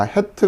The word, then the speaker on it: ח: 우리말로 즉 빠름 이 정도 생각하시면 되고요 자 헤트 같은 경우도 자 이걸 이 정확하게 해와 해트